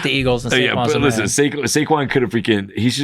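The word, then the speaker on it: Saquon: his name Barkley yes I always want to call him dayquon I don't know why squ man I hate the Eagles and squ listen saquin could have freaking he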